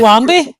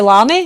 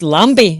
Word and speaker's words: Lambie: It's like Lambie. Everybody calls Lambie Lammy, and I'm like, well, you've got a B in your name, but everybody says Lammy.